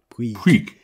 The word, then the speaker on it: Puig: Puig. Puig. How did I pronounce it? Puig. There's no I in it at all when that guy says, Puig. The commentator that does, it's David Puig.